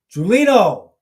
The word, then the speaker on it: Gulino: Why do I always want to say his name wrong? Gulino.